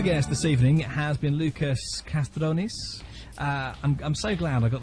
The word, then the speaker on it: Loukas Kastrounis: Now, my sofa guest this evening has been Loukas Kastrounis. I'm so glad I got the pronunciation.